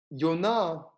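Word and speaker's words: יוֹנָה: forth the dove well yonah is the pronunciation of the name of the name of the prophet yonah who ends up in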